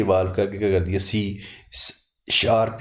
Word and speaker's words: C#: सकते हैं सी शप इसको सी हैश लिखते हैं लेकिन प्रोनाउंस इसको करते हैं सी शार्प इसका सिंटेक्स आपकी ये